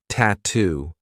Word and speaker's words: tattoo: Another word that I love for practicing the true T is tattoo. We have two true T sounds, T t and then two.